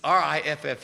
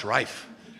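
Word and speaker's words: Riffe: It's R I FF E. Now is that Riff? No, it's Refe.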